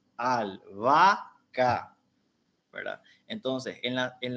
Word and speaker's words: albahaca: los ejemplos verdad albahaca cuando nosotros separamos en sílaba albahaca podemos decir que entre la segunda y la tercera a se configura un hiato porque decimos al vaca verdad entonces en la